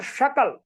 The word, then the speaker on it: शकल: जैसे सकल और शकल, सकल का मतलब संपूर्ण होता है, और शकल उच्चारण कर दिया जाए तो उसका हो जाएगा खंड, 2 खंड में बंटना शकल होता है, टुकड़ा।